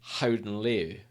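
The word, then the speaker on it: Gouden Leeuw: like Goeden Loo, but it's actually Houden Leeuw is how you pronounce it. It's Golden Lion. So I was like, And I've got a Dutch friend who said, "No, Andy, that's not how you pronounce it. You pronounce it houden leeuw."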